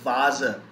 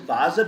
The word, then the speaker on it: Vase: using foreign words like in english we call it vase here it is vasa we will pronounce it vasa because vasa is not the german word it is the foreign word then we have way